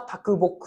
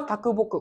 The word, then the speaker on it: 啄木: た市です石川啄木この啄木っていうのは読み方はこれ別にあってきつつきというふうにも読むんですよねだから